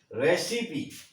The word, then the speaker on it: recipe: इसी तरह रेसिपी, RECI, RECIPE। अब ये अंत में जो ई आया इसका भी उच्चारण यहाँ पर ई निकलेगा, रेसिपी, रेसिपी।